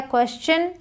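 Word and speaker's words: question: याद हो जाएगा बट याद रखिएगा जब टी आईओ एन के पहले एस आ जाए तो इसे चन पढ़ेंगे फिर शन नहीं पढ़ेंगे देखिए एडिशन एक्शन फ्रैक्शन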